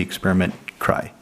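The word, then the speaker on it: Experiment Kraj: So Czech pronunciation this would be experiment cry. I haven't heard any English speaker say this name. So I guess in the states it would call this experiment crime probably.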